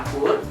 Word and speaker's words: angkur: A itu adalah angkur. Angkut. Angkur. Ancor lah kalau bahasa Indonesia-nya ya. Angkur lah pokoknya. Orang Sunda bacanya ancor. Bukan angker ya, bukan angker ya.